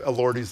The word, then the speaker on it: Elordi: With, how do you say Jacob Elordi's last name?